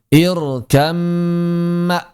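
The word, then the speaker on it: اركب معنا: Maka di sini bnya hilang 100% langsung masuk ke dalam mim dan mimnya berarti menjadi mim bertasydid. Kalau mimnya sudah bertasydid, maka seperti yang telah kita bahas di bab ghunah, dia berarti menjadi ghunah yang sempurna, maka mesti ditahan dua harakat. Irkaman, irkamma dua harakat saja, jangan berlebihan.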